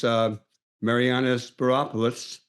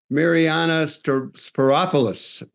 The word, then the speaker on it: Mariyana Spyropoulos: And we're taking a musical break, and then we will be back with our next guest, who is Mariyana Spyropoulos.